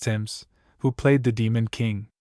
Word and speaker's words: Timus: This was a young actor named professionally Carlton Timus, pronounced Tims, who played the demon king.